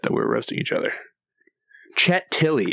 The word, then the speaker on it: Chet Tilles: Chet Tilley, is that right? Did I pronounce that correctly? That's right.